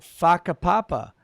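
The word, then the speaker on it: Whakapapa: Uh Kolinka Pavlova says in New Zealand since wh Mayori place names are pronounced with an F like uh like oh faka papa your kids can effectively swear all the time here.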